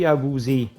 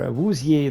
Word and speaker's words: Awuzie: We've got Shidobi Awuzie, or Awuzie, there's always both pronunciations going.